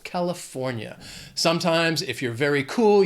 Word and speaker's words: California: It has 4 syllables, stress is on that third syllable, California.